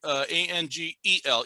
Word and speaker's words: Angel: It was spelled A-N-G-E-L. Yeah, no, not Angle, Angel.